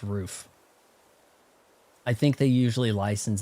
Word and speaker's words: Ruf: It's pronounced roof.